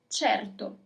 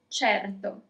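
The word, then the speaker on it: certo: Of course in Italian is cherto. Cherto.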